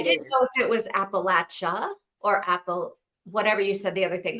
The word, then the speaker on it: Appalachia: But everyone around here says Appalachia. Appalachia Mountains. So that's the correct way to say it.